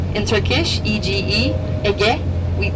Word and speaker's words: Ege: This is Ege, what we call EGE in Turkish, EGE, Ege. That's how we pronounce, because G is Ge for us, Ege, and Aegean Sea, this one, okay?